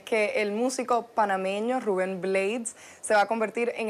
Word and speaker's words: Blades: Es Blades, se pronuncia como cuchillo en inglés, pero mucha gente lo conoce como Blades.